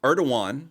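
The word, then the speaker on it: Erdoğan: t uh erdogan that um erdogan because that's how you pronounce the name visit to the city for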